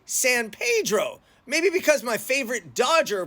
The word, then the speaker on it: San Pedro: wanted to talk about San Pedro or is it San Pedro and Los fiz or is it L's fellies let's get into it